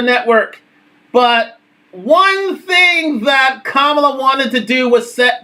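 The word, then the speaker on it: Kamala: to him and actually said her name I'm kamla Harris because as has been said on the campaign Trail Donald was you know mispronouncing her name I would say uh in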